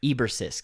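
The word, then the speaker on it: Eborsisk: named a boar sisk Eber Sisk so that that's how you pronounce it the two had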